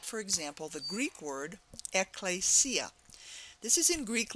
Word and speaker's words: Ecclesia: helps is a transliteration that will help you pronounce this Greek word, Ecclesia. But you need to recognize it in the Greek letters, and then this transliteration will help you pronounce it Ecclesia.